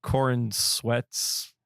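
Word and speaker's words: Corenswet: I just love how he put the emphasis on the sweat. It's Corin sweat.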